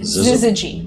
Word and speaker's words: Syzygy: That's spelled Z-I-Z-I-G-Y. Zizzle? Syzygy.